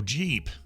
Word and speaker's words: Jeep: Oh, Jeep. Not Geep. Like Jeep the Jeep, like on Popeye.